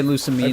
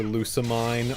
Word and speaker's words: Lusamine: I'm gonna say Lusamine heard- because that's how Japanese would probably say That's it. how they would say it.